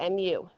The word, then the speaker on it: mu: PS whatever these are Greek letters this is pronounced mu mu it looks like a u with a long